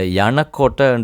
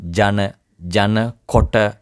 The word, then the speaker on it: යනකොට: சில வேளையில் சில பேர் இந்த யனக்கோட்டைன்னு சொல்லும்போது ஜன ஜன கொட்டை அப்படிலாம் உச்சரிப்பீங்க. அப்படி அது சரியான உச்சரிப்பு இல்லை. யனக்கோட்டை. அதை டே சத்தம் வரணும். டே சத்தம். சத்தம் வரக்கூடாது. இது ஜன கொட்டை அந்த மாதிரிலாம் வரக்கூடாது. யனக்கோட்டை.